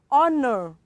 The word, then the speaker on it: honor: the next example we have honor okay let's h in this word of course we have many more words um that letter h is also silent in them and of course honor is one of those examples oh no it is not